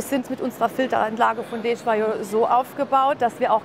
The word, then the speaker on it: Desjoyeaux: Herzlich willkommen bei Desjoyeaux. Ja. So spricht man es aus.